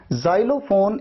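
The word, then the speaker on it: xylophone: Pronunciation में देखिए एक्स को आपने कैसे प्रोनाउंस किया, ज की तरह।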